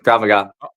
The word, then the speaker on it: Krav Maga: Krav Maga. Maga. Oh, it's not MAGA, but it's spelled MAGA.